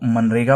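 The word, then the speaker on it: MGNREGA: तो पहला टॉपिक है मगनरेगा इसको मनरेगा पढ़ा जाता है ठीक है इसमें जी साइलेंट रहता है क्योंकि आई डोंट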